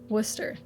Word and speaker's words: Worcester: Yeah, but how do you pronounce it? Worcester.